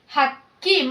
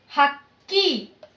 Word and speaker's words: ಹಕ್ಕಿ: So key, you have to pronounce it key. Hakki, main character you have to pronounce hardly. Hakki. Hakki.